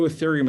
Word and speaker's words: Ethereum: is called ethereum and i'm going to spell that for you e-t-h-e-r-e-u-m it's pronounced ethereum if you only buy